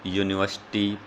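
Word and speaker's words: university: अब यहाँ पर आप देखिए वोवल यू से तो शुरू हो रहा है, लेकिन उसकी साउंड क्या है? यो। क्या साउंड दी है इसने? य की साउंड यहाँ पर इसने दी है। तो य साउंड आई है यहाँ पर, तो वो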